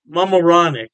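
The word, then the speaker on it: Mamaroneck: York state Poughkeepsie and I believe is pronounced moronic mamaronic yeah don't quote me on that pronunciation I tried my best yeah anyway they have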